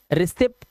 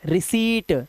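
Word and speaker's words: receipt: का वर्ड बना है रिसीप्ट रिसीप्ट नहीं आधा पा नहीं लगाना है रिसीट सी बोलो और ट लगा दो बस रिसीट यह गलत लिखा हुआ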